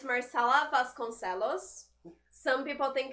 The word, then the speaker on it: Vasconcellos: husband's so it's marcella vasconcellos some people think it's vasquez because it has a double l but um in portuguese double house has just l sound so it's vas gonzalos vasconcellos it is on the